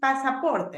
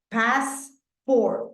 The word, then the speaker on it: passport: passport in Spanish is passaport right but listen to the pronunciation right here passport no passaport no passport only two syab passport control terminal terminal